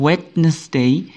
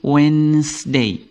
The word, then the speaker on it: Wednesday: tidak dibaca wetness Day ini ada silent D tapi D untuk yang pertama bukan wetnessesday tetapi wedesday d-nya tidak terbaca yang